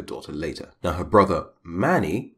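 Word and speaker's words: Máni: later now her brother mani you can say it mani that's fine and another variation of his name is mani with an accent sign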